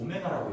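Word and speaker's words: ω: x세제곱은 1이라는 이 3차 방정식의 허근을 이거 w가 아니고 오메가라고 읽어요.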